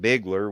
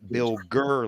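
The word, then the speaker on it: Bilger: pronounce my last name it's b i l g e r they pronounce it Bigler which the L's in front of the G oh bilder but it's a biller like tiger oh see around here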